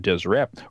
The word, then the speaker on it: Deseret: And in the lower kingdom, it talks about Deseret, and it's all consonants. There's no vowels in there. It's dsrt, but it would have been pronounced something along the lines of Deseret.